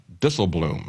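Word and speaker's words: Dijsselbloem: This is the Dutch finance minister and president of the Euro group of Eurozone finance ministers, Jurgen Dissleblum, I believe is the way you pronounce his name. It's Dutch.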